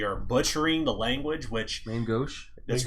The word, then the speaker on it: main gauche: kind of considered around the tables look that main gouges and essentially it's it's kind of a code